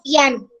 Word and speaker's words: piano: Se escribe igual, pero se dice diferente. ¿Sí me entiendes? En español lo lees piano. Bien. Y en inglés toca decir piano. Profe, así se dice piano, piano.